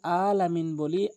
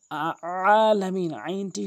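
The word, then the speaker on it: العالمين: আমরা করে থাকি, রব্বিল আলামিন বলি, আইনের জায়গায় হামজা এনে উচ্চারণ করি, যার ফলে আমাদের অর্থ চেঞ্জ হয়ে যায়। আলামিন, আইনটি হলকের মাঝখান থেকে এভাবে ভর দিয়ে আলামিন এভাবে পড়ব, তাহলে আমাদের শুদ্ধ হবে।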